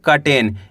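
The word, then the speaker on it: curtain: कटेन। यहां पे you silent है। यानी कि आ का उच्चारण निकलेगा।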